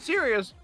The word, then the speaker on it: Sirius: Oh, they pronounce it serious.